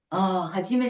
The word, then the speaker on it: 壮: はじめさんって読むんですね。